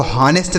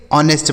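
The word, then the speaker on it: honest: ऑनेस्ट ठीक है डिसऑनेस्ट एच ओ एन ई एस टी को हनेस्ट नहीं पढ़ेंगे ऑनेस्ट पढ़ेंगे यहां पे जो एच है ना बच्चों यह साइलेंट इसको नहीं पढ़ा जाता है।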